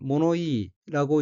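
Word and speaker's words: 物言い: 셋째 줄 첫 번째 어는 한자가 물언이고 일본어로는 모노이라고 읽으며 모노이는 말시 말이를 주장함 또 그 이의란 뜻의 명사로 동의어로는 코도바지카이 말시 말투가 있습니다.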